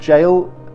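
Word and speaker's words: Gaol: number eight next one is Bodmin jail it's pronounced jail the jail is actually spelt like this the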